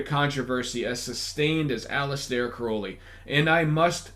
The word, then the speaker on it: Crowley: You know, few figures have enjoyed a controversy as sustained as Alistair Crowley, and I must stress Crowley as my next guest was forced to correct my error in saying Crowley.